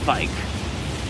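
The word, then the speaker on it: Vyke: War spear I got Vicky's War spear it's actually pronounced bike oh I I'd rather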